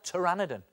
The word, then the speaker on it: Pteranodon: terrosaur family of dinosaurs now strangely when it comes to spelling tyraniden is spelled with a P P is for Pteranodon okay spelling lesson over